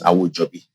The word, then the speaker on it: Awojobi: My surname is Awojobi. That's the correct pronunciation.